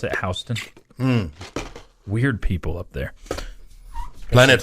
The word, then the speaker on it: Houston: a Houston Street in New York but they pronounce it hon weird people up there Planet hon especially Jamie